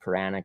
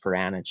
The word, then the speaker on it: Paranich: about defenseman matt paranich i said puranic at first it's uh pronounced piranhas as you said seth